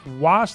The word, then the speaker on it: Wos: And the author's name is Dan Wos. That's W-O-S, rhymes with cross.